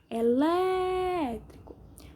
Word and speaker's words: elétrico: Elétrico. Sílaba mais forte é o Lé, som aberto, acento agudo.